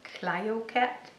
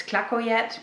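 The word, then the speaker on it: Clayoquot: butcher the name, but I think it was Clayocat. It's too difficult for me. I keep thinking it's Clacoyet, but that's because my brain makes it more sensible than Clayocat.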